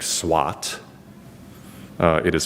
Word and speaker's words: SWOT: Um, and so while the main word sounds like SWAT, uh, it is pronounced like SWAT, uh, it's actually spelled with an O, S wo T, uh, an acronym which stands for strengths, weaknesses, opportunities, threats, all plural.